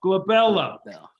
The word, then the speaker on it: glabella: you go good job glabella good luck now you could start that one that's always on the test because it rhymes with my baby girl isabella's name and that one is